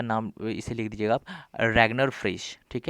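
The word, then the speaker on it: Ragnar Frisch: Micro and macro economics के पिता कौन है, रैगनर फ्रिश, ठीक है। रैगनर फिश भी कहते हैं, आर कभी कोई साइलेंट भी कर देते हैं बोलते बोलते।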